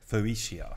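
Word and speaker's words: Phocaea: Well, Phocia, that's where it's from. So 600 BC, P-H-O-C-A-E-A. Phocia. Phocia. Phocia. Rhymes with 40.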